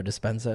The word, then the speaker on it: Dispenza: Joe Dispenza, is that how you pronounce it?